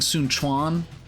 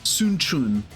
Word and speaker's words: Sun Quan: me just do this too so they say sun Kuan here in this game I've been saying Sunan because that's how they pronounce it in like Dynasty Warriors 8 but it's actually sunun sunun which is uh a little strange after